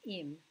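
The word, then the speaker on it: אִם: It's pronounced im, and it means if.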